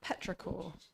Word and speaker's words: petrichor: Is it petrichor?